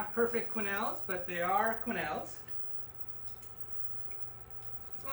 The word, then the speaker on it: quenelle: Quenelle, Q-U-E-N-E-L-L-E-S. It's a French word, so of course there's a silent alphabet at the end.